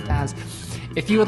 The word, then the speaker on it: BaaS: going to CloudWorld and pronouncing this like it's a fish, right? It's not bass, it's a BaaS.